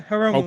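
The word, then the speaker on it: Hiromu: to do that so I think I uh haromu that's that's the way you pronounce his name right yeah haromu okay I like haromu I think haromu is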